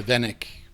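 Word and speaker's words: веник: Venik?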